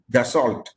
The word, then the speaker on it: Dassault: In the early 50s, we acquired the Tufani from the same company, Dassault. It is spelled D-A-S-S-A-L-A-U-T, Dassault, but pronounced as Dassault, like for normal French pronunciation.